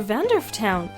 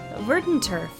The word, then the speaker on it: Verdanturf: We have to leave for Vandorf Town. Verdendorf Town. I can never pronounce that right. Verdenturf. Okay. Very soon. I've always called it something else. Vandaverg?